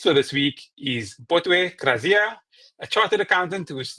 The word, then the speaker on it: Kraziya: So, I am Botwe Kraziya, pronounce it with a KR.